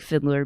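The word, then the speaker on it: Fideler: in her name natalie fiddler which is spelled f-i-d-e-l-e-r pronounced like fiddler but spelled different um i think she's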